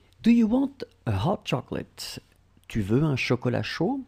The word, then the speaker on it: chocolat: As in chocolat, final t is not pronounced.